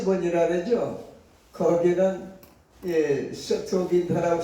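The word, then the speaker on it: Septuaginta: 그래서 이름의 유래를 세토긴타라고 독일어로 발음을 합니다. 세토긴타라고 옆에 써 있죠, 별표에. 라틴어로도 그렇게 읽습니다.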